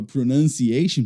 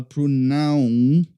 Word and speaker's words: pronunciation: Só tome cuidado com a pronúncia da palavra pronunciation, porque a gente não fala pronunciation, não, é pronunciation, beleza?